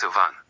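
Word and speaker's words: vingt: Then we reach 20 which is v pronounced van. The g and t at the end are completely silent and the vowel is nasal so it sounds like the English word van said through your nose.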